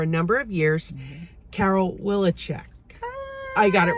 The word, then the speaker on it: Wileczek: for qvc for a number of years carol willicheck i got it right okay i'm so always so afraid i'm gonna butcher the name my name is so hard i